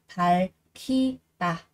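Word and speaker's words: 밝히다: Chúng ta có âm cờ cộng với cả hờ thì cờ sẽ đọc thành là khờ, và ở đây sẽ đọc là palkida, thắp sáng.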